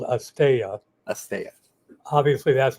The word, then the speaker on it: asteya: And you're going to talk about, pronounce the non-stealing yama for me? Well, in Sanskrit, it's called asteya.